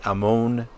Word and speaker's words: Ammon: want to pronounce it it's am m o n um in the Book of Mormon it's called Ammon in ancient Egyptian culture the O was always pronounced o so it's Amon but we're going to